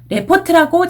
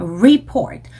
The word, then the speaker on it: report: 그 중에 이제 유명한 단어가 report 이라는 단어, 자주 나오는 단어인데 레포트라고 잘못 읽으시는 분들이 많다고 제가 저번 시간에도 말씀을 드렸습니다. report. 항상 이렇게 발음을 해주셔야 되고요.